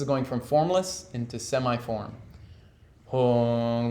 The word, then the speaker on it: hung: Hung, like the sound turns on, and then all